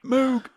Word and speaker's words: Moog: Moog, I know everybody. That's how you're meant to pronounce it.